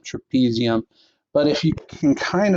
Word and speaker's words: trapezium: is known as your trapezium okay touches your thumb rhymes with them trapezium but if you can